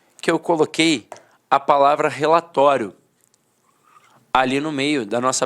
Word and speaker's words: relatório: Falava assim, ó, relatório, relatório. A penúltima sílaba era a sílaba mais forte e a última, de fato, perdia a força.